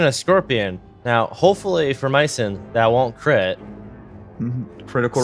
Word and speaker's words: Mycin: but medicine isn't medicine Mason I pronounce its Mason I've been saying it Mays don't worry sorry we're